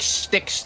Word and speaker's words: Styx: Got Sticks. Sticks like the river, not like tree stuff. What? Like sticks like the river.